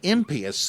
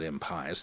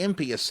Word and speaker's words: impious: what the gods love and command and the impious thing to do and that is how you pronounce it by the way not impious the impious thing to do is to do what the